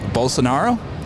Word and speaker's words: Bolsonaro: many languages right no here how do I pronounce that bolsonaro bolsonaro all right easy enough Portuguese there you go